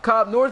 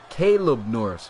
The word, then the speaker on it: Caleb Norris: What's good, Cobb Norris? Appreciate you coming, Colb Norris. Appreciate you. I said your name wrong. Caleb Norris. My bad.